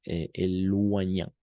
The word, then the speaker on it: éloigna: Puis elle descendit du champignon et s'éloigna, O-I toujours roi, G-N toujours N. Entonces aquí hay dos, O-I u O-Y, roi, toujours roi, siempre va a ser roi esa combinación, y G-N siempre va a ser Ñ. Entonces, éloigna.